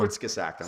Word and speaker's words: Kurzgesagt: Kurzgesagt. Spell that for all of us. Yes, Kurzgesagt. It's obviously German. Kurzgesagt. And Sounds like it spells.